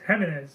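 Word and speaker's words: Jiménez: So Spanish. I definitely not think, Jimenez, it's Jimenez.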